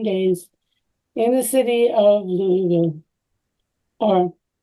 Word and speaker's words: Louisville: in the city of Louisville or Karen you should correct my pronunciation now louville took me a long time it changed that City